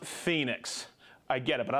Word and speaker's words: Phoenix: Devin England I know Garrett I know it's pronounced Phoenix I get it but I like to say ponix okay John from West Bailey Vermont Juan from